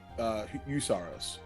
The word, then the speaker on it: Heusaro: Is it do sorrows? Eusaros, but Eusaro. it's spelled HEUSARO.